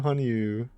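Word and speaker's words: 羽入: Oh my god, our title changed to Hanyuu.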